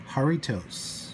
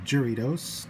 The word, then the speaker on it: Jarritos: but three different flavors of the mexican soda jaritos or jury dose depending on how you want to pronounce it originally we were supposed to get